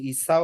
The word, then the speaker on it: Esau: একজনের নাম ছিল ইয়াকুব আর আরেকজনের নাম ছিল হচ্ছে ইসাও বা ইস। ঠিক আছে? ল্যাটিনে বানান করা হয় এভাবে, ইংলিশে ESAU। এটাকে অনেকে ইসু বলে, অনেকে ইস বলে, আবার অনেকে ইসাও বলে, এভাবে বলে আর কি।